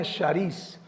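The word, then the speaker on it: χάρις: La palabra griegais o se pronuncia sharíis, pero esa palabra significa un regalo que no merezco.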